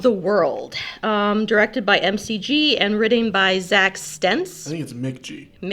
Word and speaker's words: McG: Um, directed by MCG and written by Zack Stence.